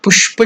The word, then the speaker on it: Pushpa: So the slide is given about the Pushpa Shuddhi. So how to pronounce this step? Pushpa. That Sh is the Murdhanya. Pushpa. The tongue will touch the palate. Murdhanya. So it's called Murdhanya Sha.